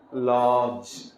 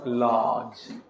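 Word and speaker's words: lodge: में रहते हैं ना लज यहां डीजी एक् आता है इसलिए यहां साउंड डी का खामोश रहेगा क्या पढ़ाया जाएगा इसको लज लज जो जो का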